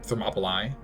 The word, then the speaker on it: Thermopylae: over dramatization of the battle uh thermopylae or thermopylae as it's probably properly pronounced nice but it does it does still